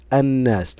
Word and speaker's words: الناس: الشمسيه كما نلاحظ ان الحرف الذي بعد اللام الشمسيه مشدد وانها لم تظهر معي في النطق فعند النطق قلت الناس نطقت الف نون الناس ولم انطق اللمس فهي تسمى لام شمسيه